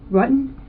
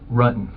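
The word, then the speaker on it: Ruttan: John Rutten? Rutan. The investigators already knew how to say John Rutten's name correctly.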